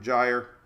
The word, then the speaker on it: gyre: Sometimes these early season systems, we get something called a Central American gyre. Rhymes with tire.